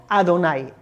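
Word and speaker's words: אדני: como te he dicho según la tradición judía nosotros pronunciamos este nombre de las cuatro letras como Adonai Alf dalet nun yud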